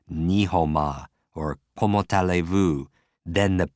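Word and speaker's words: 你好吗: Now, if you wanted to say, how are you in Chinese, it would be ni hou ma. Ni hou ma. Break it down. Ni, ho, like a garden hoe, and ma.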